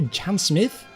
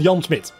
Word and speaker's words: Jan Smit: Smith, but he's called Jan Smith, right? Without an H, because I'm getting a lot of text at the same time. We don't really do TH in the Dutch language, not often at least.